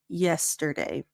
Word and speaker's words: yesterday: us yesterday and here if you're saying yesterday soften it up open up your teeth a little bit so it's not J but ye yesterday good and now for